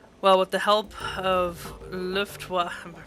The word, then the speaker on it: Luftwaffe: Well, with the help of Luftwaffe, am I pronouncing this right? Luftwaffe, of course.